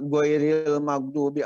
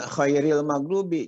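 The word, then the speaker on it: غَيْرِ الْمَغْضُوبِ: Atau misalnya harusnya ghairil maghdubi alaihim, tapi dibacanya khairil maghdubi. Jadi gha menjadi kha.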